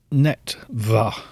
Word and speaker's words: Neretva: Still pronouncing it wrong. Neretva.